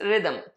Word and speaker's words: rhythm: Yes, remember हमने word discuss किया था आर एच वाई टी एच एम. इसमें पहला एच साइलेंट है, इट्स रिदम.